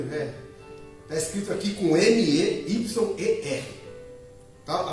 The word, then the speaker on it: Meyer: Está escrito aqui com M-E-Y-E-R. Tá? A pronúncia nossa brasileira seria o quê? Meyer. Mas o correto é? O pastor Luiz falou certo ali.